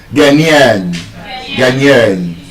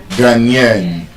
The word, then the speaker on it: Ghanaian: Ghanaian. It's straight on the last syllable. Ghanaian.